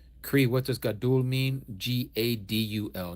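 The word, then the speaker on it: גדול: Yes, and that's how they pronounce it too. Gott, Got in the German tongue. Cree, what does Gadul mean? Gadul, not Godul, but Gadul means great.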